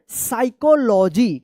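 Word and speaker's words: psychology: साइकोलॉजी। क्या पढ़ेंगे? साइकोलॉजी। यहां पे पी जो है ना साइलेंट है।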